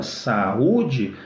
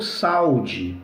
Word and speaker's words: saúde: Se você não acentua saúde, fica o verbo saude, né? Que é o verbo saudar, né?